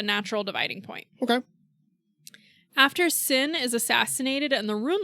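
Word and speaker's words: Xin: think it was sin it's pronounced sin King sin K sin because we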